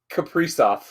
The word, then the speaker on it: Kaprizov: Kaprizov. And tell me if I'm not wrong about this, but every time you hear one of the announcers say his name, you think Capri Sun.